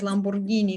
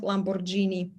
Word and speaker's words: Lamborghini: be pronounced as G and if any vowel if any vowel uh follows after G but then there is an H AA in the middle it would always be pronounced as G for example that's why Lamborghini is pronounced as Lamborghini not Lamborghini uh and there's the